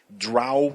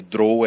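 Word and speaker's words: drow: que é um drone As duas pronúncias são são consideradas aceitas mas que em inglês draw é mais comum mais grow é uma pronúncia aceitável acho que tem um dos primeiros livros Né verdade um dos primeiros livros do d&d 70 tem lá o guia de pronúncia e e drou é aceito mas eu tenho razão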